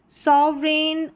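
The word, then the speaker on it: sovereign: चलिए next number 7 पर है EIGN, इसको एन करके प्रोनाउंस करेंगे। जैसे रेन, फॉरेन, सॉवरेन, और यहाँ पर है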